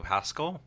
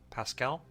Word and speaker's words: Pascal: really was a fan I liked uh Pedro Haskell Pascal is how you say his name I really